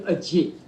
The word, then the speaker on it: Ajit: And the name, how do you pronounce it? That's right, but you can call me Ajit.